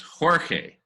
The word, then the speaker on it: Jorge: And Shankar, it's pronounced Jorge.